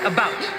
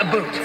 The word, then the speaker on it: about: French not American and I pronounce it about not a boot not a boot I